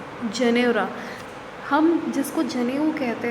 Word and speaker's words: Janeura: eyes and said, "The Janeura is still there." तो this pronounced is जनेरा।